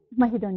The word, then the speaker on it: Mahidol: How do you pronounce that name of your university? Mahidol University.